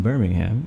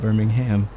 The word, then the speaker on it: Birmingham: it's so quiet right when saying Birmingham it's a silent h oh that's the thinkers in the u.s. we have a Birmingham here too that's how we say it Birmingham alright Tobit maybe a